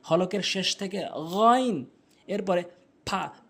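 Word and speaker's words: فاء: এরপরে ফা ফা ভুল উচ্চারণ, ফা ভুল উচ্চারণ, ফা সঠিক উচ্চারণ, ফা সঠিক উচ্চারণ। উপরের দাঁতগুলো নিচের ঠোঁটের পেট মিলিত করে আপনি উচ্চারণ করবেন ফা ফা।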